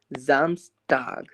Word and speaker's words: Samstag: Samstag. Samstag. यहां ' S' का उच्चारण 'Z' की तरह होगा।